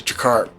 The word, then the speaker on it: Tjeker: of yes C peoples these are called the jakar it's t j e k r and the pronunciation is jakar and they came they